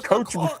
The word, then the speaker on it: Koch: Am I saying it right, guys? The Koch brother, the Koch brothers. It's The Koch brothers.